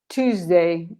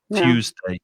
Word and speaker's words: Tuesday: part of the uk as far as i know it's pronounced cha but in american english i think it's more common to pronounce it the other way tuesday tuesday but it depends